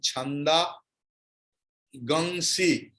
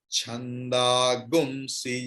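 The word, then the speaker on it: छन्दांसि: The next is, it is written Chanda Gangsi, but pronunciation will be Gumsi. Clear? This is Krishna Yajurvediya style. Don't ask me why. Chanda Gumsi Yagnire Tasmaat. If you can't remember, please write it. Gum. Gu and Anushwara.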